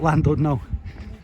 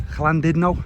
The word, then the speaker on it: Llandudno: Llandudno, sorry, I keep saying it wrong. Been pulled up on that by people in the hotel. Say it's not Llandudno, because I just say it as it reads to me, but it's Llandudno apparently, when in Rome and all that.